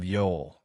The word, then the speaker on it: Youghal: The seaside town of Yol, spelled Y U G H A L, but pronounced Y A WL, looks like a postcard.